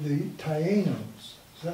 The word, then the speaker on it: Taíno: I guess and there's an accent on the I.